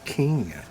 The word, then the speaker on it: Kenya: What the hell's Kenya? oh, it's way down in southern Africa, I believe. It's pronounced Kenya.